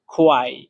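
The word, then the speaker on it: 快: তো 4 number tone উচ্চারণের নিয়ম হচ্ছে একদম নিচের দিকে, মানে উপর থেকে ডাইরেক্ট নিচে পড়বে। খোয়াই, খোয়াই।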